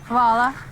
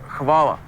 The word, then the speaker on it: Hvala: Vala. It's Hvala, boss. Vala. Koala. Vala? Yeah, better.